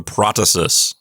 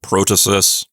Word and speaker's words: protasis: part is called the protasis. Some people pronounce it protasis. It doesn't really matter how you say it.